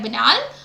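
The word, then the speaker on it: banal: जो अगला वर्ड है वो है बनाल और विनल इसको बनाल बोलते हैं इसको विनल तो बनाल का मतलब होता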